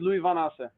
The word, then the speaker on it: Lowie Van Assche: How do you pronounce your last name? My name is Lowie Van Assche.